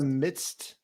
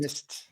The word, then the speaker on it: midst: Wait, I thought it was in our lives in the midst. Yeah, midst. Mist. Midst. Midst. Yeah. What? M I D S T is how you spell it.